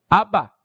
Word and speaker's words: Abba: a hablar a su papá le decía como Abba Abba Y eso es equivalente a decir papito